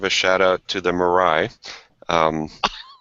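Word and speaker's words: Moirai: a really nice IPA that's called marai so um whenever I think of Mariah I'll think of good tasting beer and not unicorn cars so but it's spelled different spelled m o i r AI but uh had some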